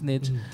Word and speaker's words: niche: Pioneer can indeed ptosis sir said nitch not okay I know the commentary the niche niche it's the same thing potato potato so don't get mad but the way I pronounce it is niche okay soft Mitchell and